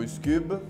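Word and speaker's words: Üsküb: Siamo il gruppo Iscube, si pronuncia con la U, e portiamo una canzone di musica balcanica del repertorio tradizionale macedone.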